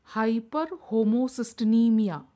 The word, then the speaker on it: hyperhomocysteinemia: is called as hyperhomocysteinemia pronounce it as high per homo CIS tin e Mia hyperhomocysteinemia if a pregnant lady